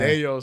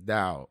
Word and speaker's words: Dao: You know, it's just Dayo. I've gotten Dayo so many times, you know, to like it's Dao.